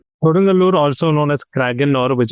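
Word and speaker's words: Kodungallur: Koden Galur. Kodangalur also known as Kraor which is the older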